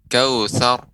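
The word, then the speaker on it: الكوثر: Pengucapan ra tapi ra-nya tebal. Kautsar.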